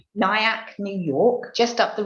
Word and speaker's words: Nyack: He grew up in Nyack, if that's how you pronounce it. Yes. Yeah. Nyack, New York, just up the road from the Hudson River.